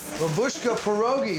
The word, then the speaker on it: Babushka Pierogies: Babushka Pierogies, did I say it right?